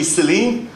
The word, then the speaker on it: Cillein: And I kind of always wondered, like, if you pronounce my name phonetically, it's actually Cillein.